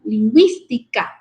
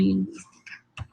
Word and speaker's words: lingüística: Indica que esta debe pronunciarse en las sílabas con G, wi, ¿verdad? Pingüino, lingüística. Entonces, cuando la diéresis va en la U, significa que debemos de pronunciar con la G, wi, ¿verdad? Como por ejemplo, pingüino y lingüística.